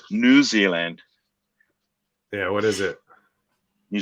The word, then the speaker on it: New Zealand: just here you guys you guys put the more emphasis on the new yeah new zealand where it's just new zealand we say it like one word we talk fast